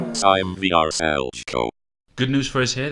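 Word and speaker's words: Šime Vrsaljko: If you said Sime Vyshchenko, you're wrong. The answer is Sime Vyshchenko.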